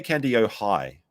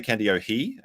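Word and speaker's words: Kandiyohi: but someone said like just imagine it's high as in you'd have to be high to believe anything Rada says and you'll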